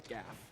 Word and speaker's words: gaff: I think it's gaff. It's Yeah. gaff, right? Okay. I'm a gaffer. I've definitely said Jaff and been corrected like so many times.